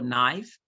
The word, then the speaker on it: knife: K for knife, how is K related to knife? Because the K there is silent.